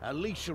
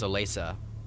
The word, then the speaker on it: Alicia: Alicia will meet you with a cart. Do what she says and we all might see tomorrow. Wait, that's how you pronounce that, really? Alicia? I thought it was Olesa.